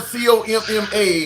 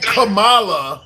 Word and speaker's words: Kamala: Like the like the punctuation comma. Think comma c o m m a and then la. When you're saying kamala is you're pronouncing it wrong. It's comma.